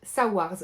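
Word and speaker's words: Saoirse: menteuse soldate espionne saws alors le prénom s'écrit S a o i r s e moi je vais dire saars d'accord saars est une sirène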